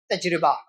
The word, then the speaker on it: تجربہ: را پر زیر ہے۔ اور تجربہ بھی بعض اردو لکھنے والوں نے یا اردو زبان کے ماہرین نے تجربہ بھی کہا، لیکن صحیح درست اور بہتر تلفظ کیا ہے؟ تجربہ۔ اس کا معنی کیا ہوتا ہے؟